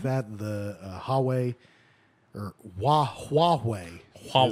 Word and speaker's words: Huawei: The Huawei or Huawei is how you say it.